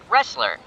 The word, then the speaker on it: wrestler: It sounds like the letter R. The word has the letter R, but it has a silent letter before it.